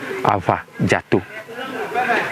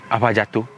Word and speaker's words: Afadzato: So they decided to use F instead of V. So that's how come Afadzato became Afadzato.